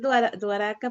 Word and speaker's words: Dwarka: Es que como que es Dwaraka, pero lo repiten tan rápido que dicen Dwarka, que se Dwarka. escucha como Dwarka.